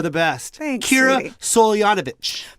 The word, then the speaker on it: Soltanovich: Soltanovich. Very close. Do it again. It's Kira Soltanovich. Come on, do it one more time. Say it right.